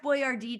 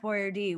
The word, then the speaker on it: Boyardee: They changed the way they say his name to sound more Italian. I'm like, he's not. It's like Boyardee. I'm like, shut the fuck up. It's just say what it is.